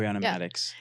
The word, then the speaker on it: Ariana Madix: Did I just pronounce her name right? Ariana Madix.